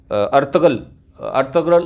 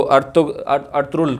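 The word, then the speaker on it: Ertuğrul: और अर्तगल हम उसको कहते हैं, लेकिन टर्की में जी यानी जो है वो प्रोनाउंस नहीं होता, तो इसको अर्तुरुल कह देते हैं।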